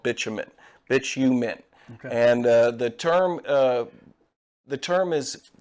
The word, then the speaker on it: bitumen: Bitushu. How do you say that again? So what we're looking at here is a natural formation of tar found in the earth called bitumen.